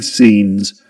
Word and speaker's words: scenes: Scenes with a long e sound. Scenes. Um that's a long e sound. And the two dots represent indicate that it's a long sound.